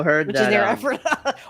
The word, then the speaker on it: Ephrata: I also heard Which that is near Ephrata, or as we say, the locals say, Ephrata.